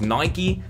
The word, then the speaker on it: Nike: We're looking at Nike and we're looking at Adidas. And yes, I pronounced both of them correctly. I don't give a shit how you pronounce it. It's Nike and Adidas, and if you don't like it,